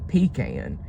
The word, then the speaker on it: pecan: It's just this word right here really gets people because people will argue you down about how this is pronounced. And this is what we call them up here and it is a pecan.